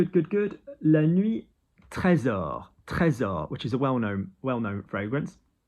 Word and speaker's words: Trésor: Trésor, which is a well-known fragrance. Très, très. And notice S is a Z, so trésor.